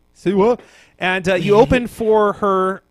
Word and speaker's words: Siwa: Siwa. Siwa.